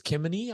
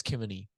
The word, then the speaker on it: Kemeny: So Josh I think it's Kemeny, I think is how you say it.